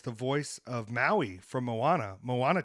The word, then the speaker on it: Moana: out for us because I thought the movie was called Mona for a long time it's not how you say it Moana did you see um